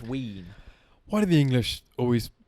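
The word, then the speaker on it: wīn: just v-i-n yeah well w-i-n sorry which is pronounced wean why do the English always make it themselves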